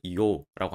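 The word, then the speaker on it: 硫黄: 유황을 이오라고 합니다.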